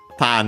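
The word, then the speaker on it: 種: So first and foremost, the voicing of Tane, because it becomes the second word part of a compound. It's of strictly Japanese origin, that usually happens to those. Tane, accent on the first mora on its own, means a seed.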